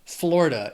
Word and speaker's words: Florida: It also has 3 syllables and the stress is on that first syllable. Florida. It's the Sunshine State. My parents live there now. Known for its beautiful beaches. Florida.